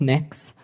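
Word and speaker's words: Mx.: It's pronounced Mix. Mix.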